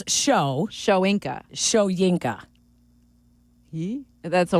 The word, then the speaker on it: Shoyinka: It is Shoyinka, not Schwenka.